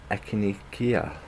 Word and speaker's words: echinacea: And then I've got some echinacea.